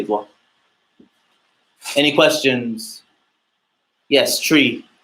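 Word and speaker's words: three: 3, you say it as tree, just because you could get it confused. So tree.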